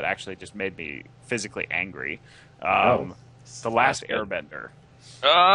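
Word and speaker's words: Aang: don't look at the source material and and mispronounce the main character's name throughout the entire movie his name is ANG right yeah and they're like no his name is on okay so I think the if you want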